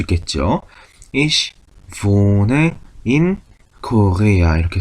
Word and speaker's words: wohne: 모음 다음에 하, h, 모음 다음에 하가 오면 어떻게 한다? 기억나시나요? 그렇죠. 앞에 있었던 모음을 길게 발음한다. 그러면 오하고 하가 만났으니까 오를 길게 발음하면 되는구나. 그러면 오라고 하면 되겠죠. 그래서 발음을 보면 독일어의 v는 어떤 발음이다? 영어의 v 발음이다. 그래서 wohne 하면 되죠. wohne.